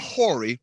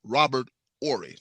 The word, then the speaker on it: Robert Horry: in the clutch like Robert Horry. Not Horry, Robert Horry. The H is silent, but the rings are loud.